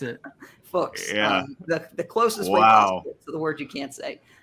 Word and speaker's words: Fuchs: It rhymes with books. That's how I remember. I always wondered how you pronounced it. Fuchs.